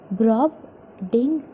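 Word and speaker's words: Brobdingnag: of Gulliver to various lands like Lilliput and Brobdingna. So let us pronounce with me. Brobdingna. So together, Brobdingna.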